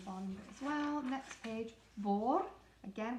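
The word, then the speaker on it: bord: as well next page boar again we don't pronounce the d on the end board is table board table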